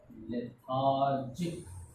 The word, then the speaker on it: lethargic: lethargic, L-E-T-H, T and H both combine to pronounce th, T-H-A, lethar, R, lethar, Jic, G-I-C, C at the end we pronounce it K, lethargic.